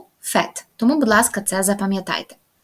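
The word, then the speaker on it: vous faites: часто роблять помилку а вони орієнтуються на особу Ну і думають якщо нуфезу то ву буде фези але насправді Ні вфет тому будь ласка це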